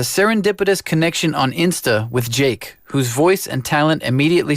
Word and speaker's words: JVKE: singer songwriter Jake uh it's pronounced Jake but it looks like jvke and Brazilian singer songwriter